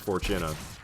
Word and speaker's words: Fortuna: Fortuna though or ballast I think it is actually technically pronounced Fortuna I don't like saying that it sounds like it should be spelled four and then chin and then uh but whatever any